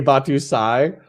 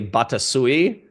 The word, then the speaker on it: Batusai: His name's AKA Batusai, but for the first like 6 months that I knew him, I called him AKA Batasui. And it drove him fucking crazy. But I kept mispronouncing it for like months after he had corrected me. And so you calling him Batusi is even fucking worse.